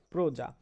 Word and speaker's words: প্রজা: যেমন দেখো, প্রজা, পয়র ফলা বর্গীয় জয়াকারে যা, প্রজা। কিন্তু আমরা এটা উচ্চারণ করার সময় শুধু পয়র ফলা বলি না, কিন্তু পয়র ফলা ওকার, ওকারান্ত হয়ে গেল দেখো।